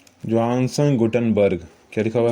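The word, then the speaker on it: Gutenberg: अब बी आर बर्ग हो गया ठीक है गुटेनबर्ग तो गुटेनबर्ग ठीक है जोहानसन गुटेनबर्ग गुंडन बर्ग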